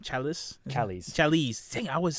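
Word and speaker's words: Challies: Tim, I think is pronounced his last name, Chalice. Dang, I always say it wrong. Chalice.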